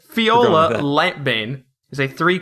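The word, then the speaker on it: Fjola: to Fiola light Bane Fiola but that's a j right yeah I know but sometimes how silent J work okay fola Fiola yeah Fiola light Bane is a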